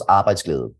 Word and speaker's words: Arbejdsglæde: So I should say that Danish is one of the hardest languages in the world to pronounce. In Danish, it goes Arbejdsglæde.